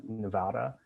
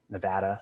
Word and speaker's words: Nevada: it's taking in water from i believe uh nevada nevada sorry i have to pronounce that correctly for my nevada friends or